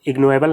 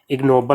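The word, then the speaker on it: ignoble: यहाँ पे दिया गया है इग्नोएबल, तो इग्नोएबल नहीं होता है, इग्नोबल होता है, इग्नोबल, जिसका मतलब होता है नीच।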